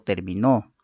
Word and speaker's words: terminó: El acento es un rasgo diferenciador de palabras que según la sílaba donde se sitúe origina cambios significativos a las palabras. Gracias a la presencia del acento en una u otra sílaba, producimos palabras con significados y funciones distintas.